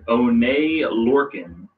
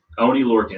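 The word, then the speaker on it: Oney Lorcan: You have the Undisputed Era taking on, I don't know, Danny Burch and One Lorcan. Yeah, Oni Lorcan.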